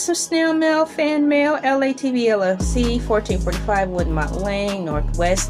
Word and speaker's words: ELAYTV: And the About channel, LA TV, pronounced like LA, like the city, is a platform filled with a menagerie of artistry.